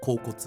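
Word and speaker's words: 恍惚: Alors, comment prononce-t-on le caractère « 恍 » à partir de « light », qui s'écrit avec le radical du cœur et le caractère « 恋 » ? « Kōkotsu ».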